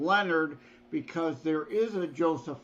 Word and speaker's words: Lenard: It looks French. It's not Lenard, Lenard. right? It's Leonard, but without an O. And yeah, It's I have to distinguish as Joseph M. Leonard because there is a